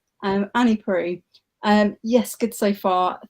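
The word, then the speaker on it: Proulx: And Ariane says it is pronounced. I can't read the comment now because it's gone away. Prue. Pronounced Prue. Yeah. Sorry, I am bad at pronouncing stuff, but yeah, Prue.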